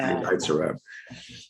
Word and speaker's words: Nitzer Ebb: There was always a question: is it Nitzer Ebb or Nitzer Ebb? It's like obviously Nitzer Ebb.